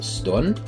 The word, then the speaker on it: stånd: Next word is erection, and that is called stånd. The first part, stå, is pronounced like the first part in store. And the last part would be like the last part of end. So the ending of the end, the ND.